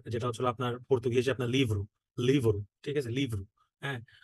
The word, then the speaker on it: livro: বইকে আপনার যেটা হচ্ছিল লিব্রো, আর যেটা হচ্ছিল আপনার পর্তুগিজে আপনার লিভ্রু, লিভ্রু, ঠিক আছে, লিভ্রু, হ্যাঁ, আর যে কোনো